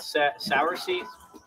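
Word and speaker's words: cerasee: It's called sour seed. That's how you pronounce it, but it's spelled like Sarah C with a C.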